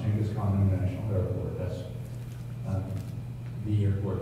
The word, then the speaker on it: Genghis Khan: You see Genghis Khan, that's how it's pronounced, Genghis Khan International Airport.